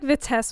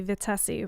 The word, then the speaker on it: Vitesse: uh waiting for responses you've always been pronouncing it the Tess I feel like the test works too um I heard some people were calling me vitessi which is not accurate but you can call